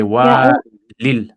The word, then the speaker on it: والي: So therefore you wouldn't pronounce like you wouldn't pronounce the ya there. So you would say walil because it's like it's going on to Medina. So you can say wali al Medina, it's fine.